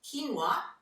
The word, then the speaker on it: quinoa: as well as quinoa it's spelt quick Noah but quinoa is as a good source